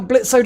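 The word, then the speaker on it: Blitzø: um what's blitzo sorry Blitz Blitz sorry the a is silent blitz's um uh friend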